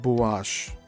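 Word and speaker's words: Buache: Hence the existence of maps such as the Pirase and Buash and that's spelled B U A C H E and parenthesis.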